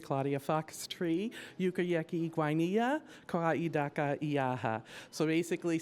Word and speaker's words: Guainia: Uh Yukayyaki Guia Yukayyaki Guyana Guia Guina see we have to make sure that our pronunciation is right today.